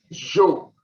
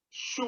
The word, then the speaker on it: Zhou: This is pronounced Jo. Some people pronounce it as Shu also, S-H-O-E, the Shu.